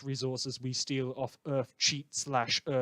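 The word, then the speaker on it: Cheit: we steal off earth cheat / earth kate / earth kite i've seen a lot of pronunciations listeners I'm sticking with cheat this is a problem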